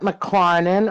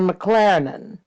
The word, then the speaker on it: McClarnon: Now, do you pronounce that McClarnon or McLaren? Either way. Because I've heard you say it, McLaren. Yeah, my father used to say McLaren, Jerry McLaren or Jerry McClarnon. Either way, I suppose if you're in Ireland